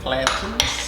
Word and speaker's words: plantain: side order of fried plantains, which is my favorite. Plantains. You're supposed to say it like mountain. Plantains. Mountain plantain. I like fried plantains with my chilaquiles.